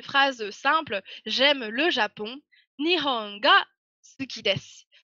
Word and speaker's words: Nihon: Donc là, je vous ai mis une phrase simple, j'aime le Japon, Nihon ga suki desu. Sachant que Nihon, avec un H imprononcé, c'est le Japon, et ga suki desu, ça sera une expression toute faite pour dire j'aime quelque chose.